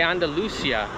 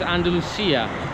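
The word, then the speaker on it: Andalucía: in nanda lucia andalucia so in english they say andalusia in spanish it's andalucia that's what it's called so they got an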